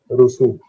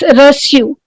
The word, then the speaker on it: reçu: Rusu. No, it's reçu.